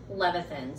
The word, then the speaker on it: Levithan: And when I looked it up, the way that I understand it is David Levithan.